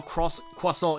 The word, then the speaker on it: croissant: I love how, like, how croissant is pronounced in French. It's like croissant.